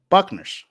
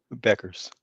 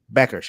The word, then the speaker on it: Bueckers: It was Paige Buckners. I'm saying that right, correct? Is Paige it who? Is Buckners or Buckners? Beckers. Beckers. Okay. See, I said it. I said it wrong twice.